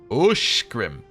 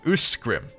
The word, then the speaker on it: Uskrim: Uskrim is pronounced Ushkrim and not Uskrim.